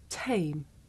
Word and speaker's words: tame: In English, we say the sound at the beginning of the word tame with a big puff of air. Look. Dame, tame.